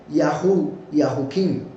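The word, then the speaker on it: Jehoiachin: La pronunciación correcta de Joaquín es Yahuquim, que quiere decir Yahweh levanta, del verbo cum, y por supuesto el Yahu es de Yahweh.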